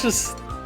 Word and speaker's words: Juste: I've seen people say it's pronounced Just. Just.